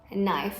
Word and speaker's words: knife: Spoon ช้อน fork ซ่อม knife มีด spoon fork อ่านออกเสียง R ตรงกลางนะคะ fork knife ไม่อ่านออกเสียงตัว K stove and oven stove I use stove